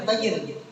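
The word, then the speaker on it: Taiyuan: Bacanya tulisannya Taiwan, tapi tulisan bacaannya Taiyan. Tulisannya Taiwan, tapi bacaannya Taiyan.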